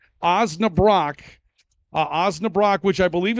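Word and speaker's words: Osnabrock: Mark uans has selected OAB Brock and I'm told it's pronounced Brock not Brooke OAB Brock OAB Brock which I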